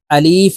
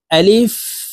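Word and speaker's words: ألف: হরফের পরীক্ষা আলিফ আলিফ উচ্চারণ করার সময় আমরা অনেকেই আলিফ এভাবে টেনে উচ্চারণ করে থাকি আলিফ উচ্চারণ দ্রুতভাবে পড়তে হবে আলিফ আলিফ হাফ হালুকের মধ্যখান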